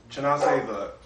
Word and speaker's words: Chinasa: Chinasa, the model, artist, all the above, correct? Yes. Oh my goodness, is your mic? Excuse me. Chinasa. Chinasa, I apologize. Yes, it's a chi and a nasa.